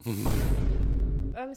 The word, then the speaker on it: homme: que vous êtes compliqué homme ça s'écrit avec un H mais qui ne se prononce même pas dès le début on